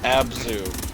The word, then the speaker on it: Abzu: no no it's Evan it's pronounced abzu not war agent on your